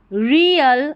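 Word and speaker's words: real: बट रियल, इसको रील नहीं पढ़ना, रियल पढ़ेंगे।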